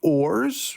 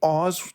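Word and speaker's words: Oars: Oz and his name technically it is ores you know like as in like the things that you row with funny thing is in Japan they call him Oz like spelled like oh HZ like here's the cover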